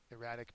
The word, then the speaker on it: erratic: erratic um the adjective erratic means uh not regular or consistent not regular or consistent oh by the way the accent mark is on the second syllable so um when he